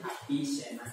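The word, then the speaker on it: Avicenna: Ibnu Sina, dia bacanya Api Sena. Ibnu Sina, Api Sena.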